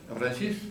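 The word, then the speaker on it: affranchis: A estos mulazos se le conocía por el nombre de Afranchis. Afranchí es el sabe bien pronunciado.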